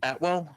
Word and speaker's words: Atwell: I mean, they got Tutu I think it's Atwell. Is that how you pronounce it? Tutu Atwell, yeah.